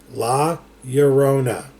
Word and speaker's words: La Llorona: in a Spanish word or name you always pronounce the elves as a Y okay so la Llorona okay we're good now so so nobody's gonna